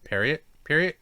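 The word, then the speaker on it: Pierrot: periot has been uh Peri periot uho studioo yeah I forget how to say their name it's always weird it's pronounced like it would be in French pero yeah um Studio pero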